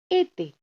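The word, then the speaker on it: été: ठीक है, जिससे ई का प्रोनाउंसिएशन हो जाता है ए। ठीक है, अब इसका फ्रेंच एग्जाम्पल है एते, जिसका मतलब होता है समर।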